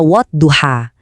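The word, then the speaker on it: والضحى: Contoh paling pas ada di ayat pertama surah ini, di kata wadduha. Huruf dot di situ dibaca dengan tebal dan bergema.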